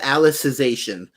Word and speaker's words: Alicization: online uh alicization or it's hard to pronounce it's it is alicization is what it is um and you only